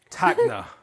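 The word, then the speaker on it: Tacna: You pronounced all those amazingly. And Takna.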